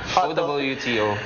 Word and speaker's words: Owto: why we opted for OWTO. So ang tama palang pronunciation niya, Owto.